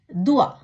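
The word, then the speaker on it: doigt: தே ஓ இ ஜே தே துவா, விரல்.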